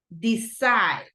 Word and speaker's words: decide: continue with what about uh decide decide first or second syllable second syllable second syllable right great catch thank you